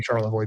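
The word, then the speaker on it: Charlevoix: Um, those are not easy to pronounce and a lot of people get them wrong, specifically Charavoy because that doesn't look anything like it sounds.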